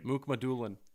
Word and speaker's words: Mukhamadulin: And I'm going to spell the name first, see if you can pronounce Oh, it. Jesus. So first name is Shakir. Shakir. Last name. Mukmadulin.